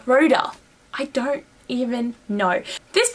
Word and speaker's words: Rhoda: I always go to say Rhonda. It's not Rhonda, it's Rhoda.